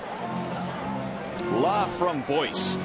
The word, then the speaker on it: Laframboise: Laframboise is the correct pronunciation.